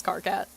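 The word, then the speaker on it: Karkat: So it's spelled like Kit Kat, but it's Carcat.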